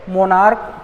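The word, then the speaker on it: monarch: ठीक है, मोनार्क तो मोनार्क्स, कोन्स तो कोन्स, है ना, हाँ, मोनार्क, कॉन्क तो कॉन्क्स, क उच्चारण होता है इनका, इसलिए इनमें क्या होता है, S जुड़ता है।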